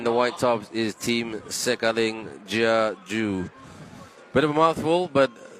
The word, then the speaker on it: Sikailin Jiaju: the team in the white tops is team Sikailin Jiaju. Bit of a mouthful, but that is the way you pronounce it.